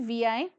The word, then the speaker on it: Vi: एक integrated brand वीआई को announce किया वोडाफोन और आइडिया ने। इस वीआई वर्ड की प्रोनाउंसिएशन उन्होंने क्या रखी? वी।